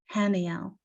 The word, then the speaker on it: Haniel: God or joy of God and it is pronounced Haniel the origin of her name is the Hebrew